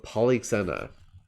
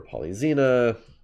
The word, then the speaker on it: Polyxena: have the sacrifice of polyxena i will write out that name or polyzena or polyxena there are various pronunciations so again this is